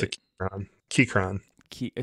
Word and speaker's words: Keychron: Keychron. Key, spell it.